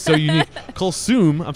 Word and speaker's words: Kulsoom: Kulsoom, I'm saying it correctly, right?